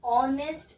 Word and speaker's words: honest: you can just see honest, honor, r, right? So h is silent, h is silent, h is silent. O sound is there.